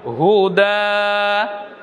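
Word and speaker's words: هدى: হুদা। আপনি বলবেন না হুদা ইয়া, ইয়া বলবেন না। ইয়া কেন বলবেন? ইয়া তো খালি আছে, পড়তে হবে না, ইয়া আসবে না।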